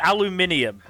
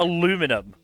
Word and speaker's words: aluminium: It's aluminium. Not aluminum.